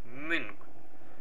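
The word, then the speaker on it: müň: NG olarak okunuyor. Yani bilirsiniz. Münk.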